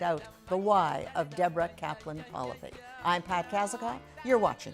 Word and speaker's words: Polivy: Today we're speaking to Deborah Polivy. Rhymes with policy, and policies on fundraising and board management is what Deborah Polivy is all about.